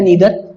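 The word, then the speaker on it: neither: देखिए दोस्तों, एक शब्द होता है, चाहे इसको आप दोस्तों प्रोनाउंस करिए नाइदर चाहे नीदर।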